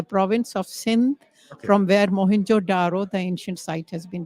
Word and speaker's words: Mohenjo-daro: And Mohenjo-daro is actually a Sindhi word, which means mound of the dead. Actual pronunciation is Mohenjo-daro.